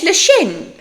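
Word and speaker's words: Leshem: Now, if you thought, as I did the first time, that lash would be like a guttal c L E C H E M, you would be wrong. His name's Lashm.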